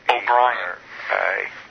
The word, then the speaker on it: O'Brien: It is John Lord O'Brien, but it's spelled B-R-I-A-N. O'Brien.